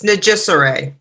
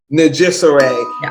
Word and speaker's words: Nijsure: bad at it so and so would you pronounce your last name for all of us sure it's nagissaray najissaray najisare there we go i got it you see